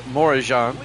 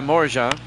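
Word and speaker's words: Morejón: I believe that's pronounced Morajan.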